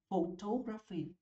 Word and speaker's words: photography: Bạn đọc là photography. Đó, vần hai nè. Bỏ chữ Y đi nhấn vần 1. Có chữ Y nhấn vần 2.